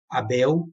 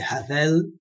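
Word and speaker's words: הבל: a pronúncia não é Abel a pronúncia é havel não é com a pronúncia da letra B com a pronúncia da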